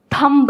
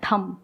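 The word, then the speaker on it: thumb: नहीं, मैं हमेशा कोशिश कर थंब नहीं होता है, थम होता है, थम थम या बी साइलेंट।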